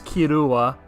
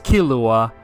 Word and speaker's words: Killua: for the homie kirua his name is kirua but I guess in English it's pronounce as kilua I don't know whatever